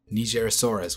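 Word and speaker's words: Nigersaurus: everyone this is how the dinosaur's name is pronounced nigerasaurus which had 500 Teeth Let's now move on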